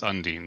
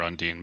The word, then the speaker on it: Undyne: myth actually actually looked up what the actual pronation was and it's unine so I'm just I've been calling her undine buta right then uh